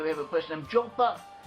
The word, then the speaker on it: Joppa: Braxton County, where we have a place named Joppa. Joppa is also pronounced as Jaffa. We have Jaffa in modern Hebrew.